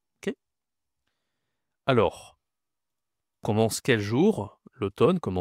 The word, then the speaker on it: l'automne: C'est l'automne. L'automne. OK. Masculin. Alors, l'automne, attention, la prononciation ici, c'est O. A u en français, c'est O.